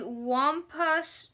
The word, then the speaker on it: Wampus: It is pronounced Wampus, I'm pretty sure. W-A-M-P-U-S.